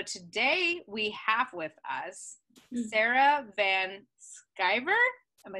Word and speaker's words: Sarah Van Sciver: highest selves so today we have with us sarah van skiver am i saying it right oh yes i